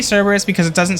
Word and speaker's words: Cerberus: I think, correct me if I'm wrong, but I'm pretty sure that the correct pronunciation of Cerberus is Kerberos. I think that's how you actually pronounce it, but I say Cerberus because it doesn't sound as stupid and dumb.